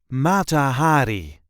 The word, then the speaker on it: Mata Hari: This is the way we say Matahari. Matahari. There is a light emphasis on the first syllable of her last name. Matahari.